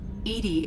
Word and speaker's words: EDI: is a jar why are you named Edie Edie is the phonetic pronunciation of of Eed that is an acronym